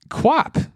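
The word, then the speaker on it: QWOP: body part an arm or a leg basically quap which is spelled q-w-o-p is a game on the computer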